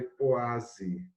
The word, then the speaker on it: poise: Se escreve poise, mas se lê poase. É lá da França, né?